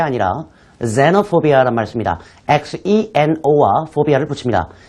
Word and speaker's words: xenophobia: 그럴 때 foreign phobia라는 말을 쓰는 게 아니라 xenophobia라는 말을 씁니다. xeno와 phobia를 붙입니다. 이때 xeno는 xenophobia, z 발음이 나와요.